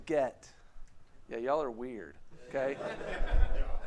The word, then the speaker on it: Git: I say it like this word get is pronounced the same way as the other word get okay so you might say Get Right how many of you say get yeah y'all are weird